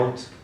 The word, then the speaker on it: Wundt: say his name, but is it Bunt or something like that, when he started, he established psychology, That's what one of them said. English or German would be Yeah. Wundt.